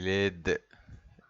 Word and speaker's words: laide: لو من المذكر ما بنطقش الد ومفيش في الآخر فبقول لا. يبقى elle est laide. Elle est laide.